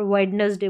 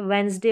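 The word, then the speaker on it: Wednesday: ज्यादातर गलती करते हैं यहां पर वेडनेसडे बोलने में वेडनेसडे की डी बोल रहे हैं पूरे हक के साथ की डी यहां पर आएगा नहीं गलत रहता है वो उच्चारण प्रोनंसिएशन रंग है वेनसडे होता है हैंडसम नहीं हैंडसम होता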